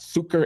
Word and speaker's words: succor: And I say, look, I descend from people who sought succor and cover under the global agreement about Succor. human decency I pronounce and it equality, succor. of which the It's South not African sucker.